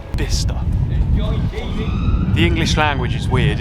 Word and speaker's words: Bicester: out isn't there B that's how you pronounce the name of this place not Bicester bister the English language is weird isn't it so